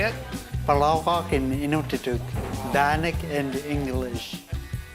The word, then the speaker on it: palaugaaq: "Palaugaaq" in Inuktitut, "bannock" in English.